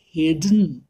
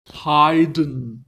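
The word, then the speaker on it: Haydn: আমার কিন্তু আপনার নেই কি রকম হাইডেন মোটার্ট বেটোফেন এই হলো আসল উচ্চারণ হাইডেন মোটার্ট বেটোফেন থ্যাঙ্ক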